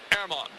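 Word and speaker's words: Germán: up by craby today airman marquez is coming up now g-e-r-m-a-n pronounced airmon and the pitch it's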